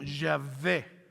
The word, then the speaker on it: Yahvé: La W en el hebreo se pronuncia como V. Entonces, por eso ponemos como Yahvé.